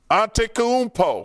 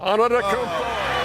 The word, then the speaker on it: Antetokounmpo: And it felt like only people in Milwaukee knew how special he was and how to pronounce his name. Giannis Antetokounmpo Antetokounmpo Antetokounmpo for three.